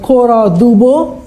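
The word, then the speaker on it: Cora Du Bois: out there and then kora du Bois that's how you pronounce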